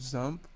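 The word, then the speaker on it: XAMPP: first of for download zamp zamp is spelled x m PP X MPP so Type download zamp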